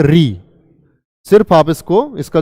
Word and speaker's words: ऋ: इसका उच्चारण होता है आपका री, क्योंकि यह आपका मिलकर बनता है रे प्लस छोटी ई से, रे प्लस ई। इसी को हम क्या बोलते हैं, री।